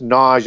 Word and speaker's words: Naga: Sanskrit word for Cobra and pronounced nagy as opposed to hard G on that so if